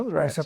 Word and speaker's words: Andretti: Você é mais jovem, provavelmente não vão lembrar, mas Mario Andretti, Mario Andreta, pronúncia em inglês, piloto, piloto, opa, de